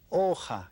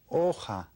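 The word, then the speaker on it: hoja: called la la la aha can you say that la aha because you don't pronounce the H oh ha okay then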